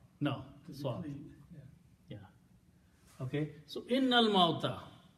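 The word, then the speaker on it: إن الموت: You combine noon with lam. Innal mauta.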